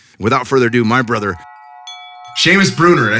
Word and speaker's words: Seamus Bruner: So without further ado, my brother, Seamus Bruner.